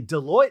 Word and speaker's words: Deloitte: pronounced, by the way, with the way it's spelled Deloitte. I know it's hard. I didn't know it was Deloitte for a long time.